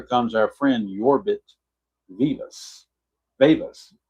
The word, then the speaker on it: Vivas: Vivas. You're saying it's Yorbit Vivas, like it's pronounced with an E, or Vivas? Okay, sharing with the E, so it's Vivas then.